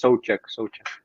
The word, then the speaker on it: Souček: People who speak the English language always say Souček or something. I don't know how to say it, but it's Souček. Souček.